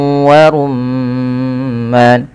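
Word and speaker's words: وَرُمَّانٌ: hidung kemudian warumman rumma di sini ada bacaan gunah yaitu ada nya huruf mim yang berharakat tasydid Apabila ada mim berharakat tasydid bisa dipastikan dia bacaan gunah cara membacanya adalah menahan suara Bunyi gunahnya atau suara bunyi mnya sepanjang dua harakat warumman baru dilepas padahal falman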